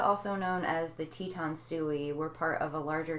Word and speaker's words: Sioux: Like Sioux? It's pronounced Sioux?